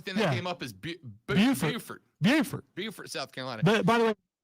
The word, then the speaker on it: Beaufort: is beautiful yeah uh of course you gotta put the emphasis on beauty from right here in